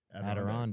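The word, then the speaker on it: Adirondack: I don't know how to pronounce that word. Aderonde.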